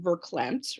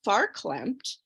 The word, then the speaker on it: farklempt: Night Live, you know, used this term, as he pronounced it, verklempt, right, with his Linda Richmond character, which is a, you know, mispronunciation of the Yiddish word farklempt.